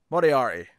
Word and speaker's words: Moriarty: Moriarty, to say it properly.